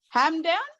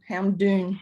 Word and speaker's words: Hamdoon: It's spelled Hamdoon. Ham down. Hamdoon. Hamdoon. Yes, exactly. Hamdoon.